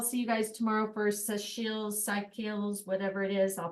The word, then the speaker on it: Seychelles: And otherwise, I'll see you guys tomorrow for Seychelles, whatever it is. I'll pronounce it right tomorrow. All right. It's pronounced Seychelles. Seychelles, like seashells by Yep, the but Seychelles.